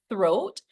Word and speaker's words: throat: So this TH sound we know should be pronounced as throat or 3. So that's the number 3, not the plant that grows outside called tree.